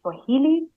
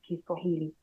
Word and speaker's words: Kiswahili: Kiswahili is the language, but people have shortened it to Swahili, but it's pretty much the same. I think it's just a matter of pronunciation and people trying to find an easy way to pronounce. But the proper way to pronounce is Kiswahili.